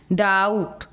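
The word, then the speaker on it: doubt: डाउट, DO डाउट, बी हो रहा है, ब उच्चारण नहीं हो रहा है, प्रोनाउंसिएशन नहीं हो रहा है।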